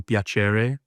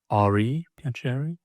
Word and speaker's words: piacere: So the original Italian, for anyone curious, is Il Piacere, I think it's pronounced. That's I-L space P-I-A-C-R-E, Piacere? Piacere, I believe.